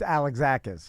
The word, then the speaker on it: Alexakis: Alexakis is what I was going to say. It's Alexakis.